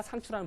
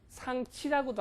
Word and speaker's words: 상추: 그래서 요 생채라는 단어에서 생채 하다가 상추라는 발음이 변하는 거예요. 그러니까 지금의 이렇게 도중에 발음이 변하다가 뭐 상치라고도 하기도 하고 불과 몇십 년 전만 해도 우리는 상치라고도 했어요. 지금도 시골 할머니들 상치라고 해요. 근데 지금은 이제 물론 표준어가 상추로 됐습니다만 이제 생채에서 나온 단어다 이렇게 하시면 돼요.